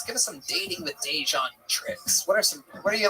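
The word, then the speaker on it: DeJuan: And I was like, You're like, it's Dejan. Yeah. It's Dejan, bitch. It's Dejan. Spell it.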